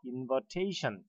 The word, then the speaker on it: invitation: A의 액센트 있는 거죠. 그래서 invitation 이렇게 발음하면 되겠습니다.